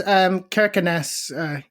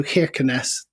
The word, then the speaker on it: Kirkenes: Yes, Kirkenes. Interestingly, the people there seemed to turn the first K into a sort of a sound a bit like a Russian H. So Kirkenes, many people seem to say, but...